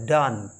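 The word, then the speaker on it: dung: एन जीी my dear यह होता है डन जिस तरह हम डी ओ एन ई को प्रोनाउंस करते हैं ठीक उसी तरह हम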